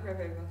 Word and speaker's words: ReVe: Yeah, Reve. Reve. Well, like red velvet, but red.